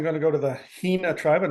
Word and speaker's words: Hina: Okay, my first pick, I'm going to go to the Hina tribe. I'm not even sure if I'm pronouncing that right.